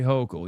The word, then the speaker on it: Hochul: Hochul, say Hochul. You're saying it wrong.